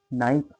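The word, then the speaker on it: knife: Live से हो जाएगा नाइफ मींस चाकू होता है। इसमें के साइलेंट होता है।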